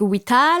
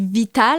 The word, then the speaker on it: Witala: Avec Wita, là? T'as dû toutes les entendre, là. Non, en général, des fois, le monde dit Vita, là, parce que c'est finlandais.